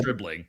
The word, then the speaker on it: Stribling: Yeah, it rhymes with Bijan Dribbling, but his name is actually great Deshaun plug. Stribling.